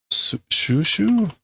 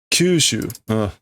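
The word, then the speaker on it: 吸収: It's shushu? No. Why am I blanking on how to pronounce that? Kyushu. Kyushu shite.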